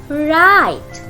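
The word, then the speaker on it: write: Right. Right. Here W is silent and the word is pronounced with R. That's why this R is a sounded one.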